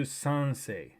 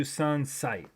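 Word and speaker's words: 三十三歳: So yeah, I went back to the scene and he said Sanju Sansei. So this is my channel. Probably what they said is Sanju Sansai. Sanju Sansai means 33 years old.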